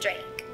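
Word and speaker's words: Draac: to Nikki dra yeah we pronounce it Drake but it's spelled d r a a c like yeah like I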